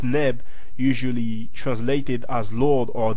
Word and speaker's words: neb: Sun and usually translated as ra and v30 pronounced neb usually translated as Lord or the and also